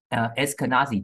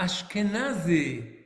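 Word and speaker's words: Ashkenazi: between what are askanazi Jews what are what Eskenazi Jews es uh let me let me ah ashkanazi oh ashkanazi okay sorry sorry my pronunciation what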